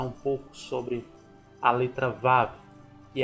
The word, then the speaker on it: Vav: A letra Vav é a sexta letra do alfabeto hebraico. Pronuncia-se Vav e tem o som de V, como em videira.